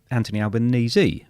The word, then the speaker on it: Anthony Albanese: And it rhymes with sneeze. And I go, no, it doesn't. It's Anthony Albanese.